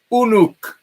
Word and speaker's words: Uruk: And this revealed a very important city in antiquity that appeared under the name Uruk. And a study of cuneiform soon revealed that this could equally well be pronounced Unuk, which was recognized as identical with the biblical word Enoch.